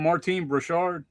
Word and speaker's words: Martine Beswick: Martine Beswick?